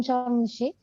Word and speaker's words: Sharm el Sheikh: Now I'm in Sharm el Sheikh. Oh God, I can't pronounce that one. You can say charm.